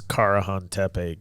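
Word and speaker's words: Karahan: news or blood what I don't know how to say it but it's carane k a r a hn yeah it made me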